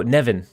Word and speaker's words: Nivan: Name is pronounced. Oh, Nevin.